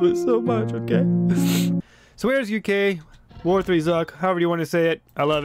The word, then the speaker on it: War3Zuk: me know in the comments that apparently it's pronounced where's uk now that makes sense oh i was digging there earlier like what which apparently it's pronounced where's uk which makes a lot of sense you know